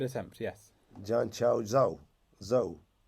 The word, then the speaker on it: Zhou: Zhou. But not Tho. No. Zhou, okay.